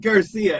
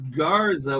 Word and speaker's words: Garza: You stuck with Garcia. It's Garza with a Z.